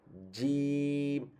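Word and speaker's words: ج: মানে ভাইব্রেট করে তখন কিন্তু জিম নিয়ে আসার সময় কিন্তু তেমন ভাইব্রেট হবে না এটা একদম এটা কি বলে একদম সিল মারার মতন আর কি একদম একদম টাইট করে লাগবে তারপর উচ্চারণটা আসবে যেমন দেখেন জিম জিম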